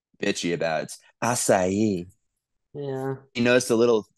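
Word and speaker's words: açaí: always call it aai she's like that's not how you say it everyone know be like it's asai I love it I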